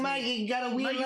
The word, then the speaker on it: Mayeux: So for people reading your name, how do you actually pronounce it? Mayeux, like Mayeux have a weird last name.